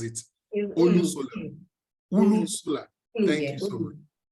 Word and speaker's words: Olusola: I didn't want to use Yoruba to pronounce it. Olusola.